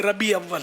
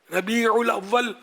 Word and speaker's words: ربیع الاول: جلوس میلاد نکالتے ہیں، بولتے ربیع اول ہیں، ربیع الاول بیچاروں سے بولا نہیں جاتا، بہت سو سے میں نے سن رکھا ربیع اول آ رہا ہے۔ اس لیے میں تھوڑا